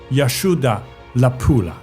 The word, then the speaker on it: Yashodharapura: 吴哥窟在高棉语里面就是娜迦之城，梵语念作 Yashoda Lapula，意思是龙女的光荣之城。